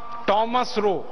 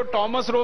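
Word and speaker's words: Thomas Roe: था उसका नाम था थॉमस रो। अंग्रेज उसको टॉमस रो भी कहते हैं। थॉमस रो भी कहते हैं। दोनों उच्चारण उसके नाम के हैं।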